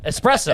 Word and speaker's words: espresso: Like Espresso.